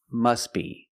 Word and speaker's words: must be: The T is silent because it's between consonants. When you link the words, must be.